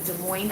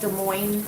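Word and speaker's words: Des Moines: I don't know if De Moine is like Illinois where you don't pronounce the S so I'll just say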